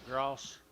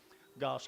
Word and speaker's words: Goss: Let's go to Edmund, John Gross. Pronounce that. There's no R. There is an R here. Okay. Goss cattle, guys.